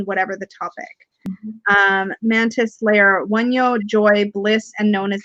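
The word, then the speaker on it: Wunjo: Wunyo. Wunyo. I think J is pronounced as we would say a Y.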